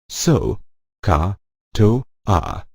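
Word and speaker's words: SOHCAHTOA: It is pronounced so, ka, to, a.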